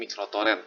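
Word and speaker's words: µTorrent: Walaupun sebenarnya bukan uTorrent sih, cara bacanya sebenarnya microtorrent, tapi ya lu tau lah.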